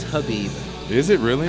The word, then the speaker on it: Khabib: This whole time I think I've been saying Khabib. I think it's Habib. Is it really? I think the K is silent.